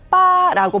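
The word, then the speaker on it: 八: 곡이 각각 대비 곡입니다 중국에서는 숫자 8을 빠라고 발음을 하는데요 또 돈을 잘 벌다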